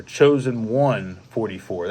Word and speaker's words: Chosen 144: And then I think it was Chosen 144, or Chosen 144. That's how you say his name. Yeah. But you spell it out as Chosen, CHOSEN, the number 144.